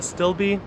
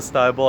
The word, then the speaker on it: astilbe: quick little video on a stilby not a style bowl i learned my lesson there it's not pronounced the style it's a stilby and i hope you